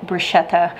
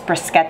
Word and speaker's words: bruschetta: something absolutely delightful um here in the South this is called brushetta um the actual pronunciation which this isn't Italian in origin is brisket the um if I